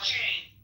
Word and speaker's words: Jane: And then the final point is to Jan. Or Jane, whatever you want to say her name. Jane. I want you to say it as Jane.